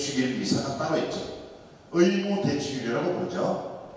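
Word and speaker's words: missa: 자, 미사, 이게 라틴어로 영어로 이제 제가 발음을 하면 M-I-S-S-A, 미사.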